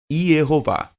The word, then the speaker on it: Yehová: A evidência aponta sobrepujantemente que a forma original do nome de Deus é Yehová.